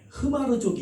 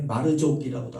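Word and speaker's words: Hmar: 것입니다 여러분들 인도 북부의 흐마르족이 있습니다 말하죠 근데이 흐르는 묵음이기 때문에 마르족이라고도 하더라고요 그런데 어쨌든 인도의 북구에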